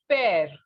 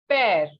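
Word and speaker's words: père: is for father and it is pear listen carefully pear pear means father okay and another word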